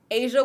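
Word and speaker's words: A'ja: Asia Wilson is the it's spelled A-J.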